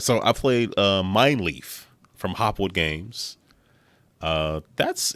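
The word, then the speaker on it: Mijnlieff: have my it's spell it's mine leaf but it's spelled m m-i-j-n-l-i-e-f-f from hopwood games it's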